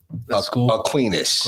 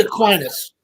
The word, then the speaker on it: Aquinas: you one thing listen i never knew how to pronounce that a queenness it's actually aquinas yeah okay saint thomas aquinas okay yeah yeah that's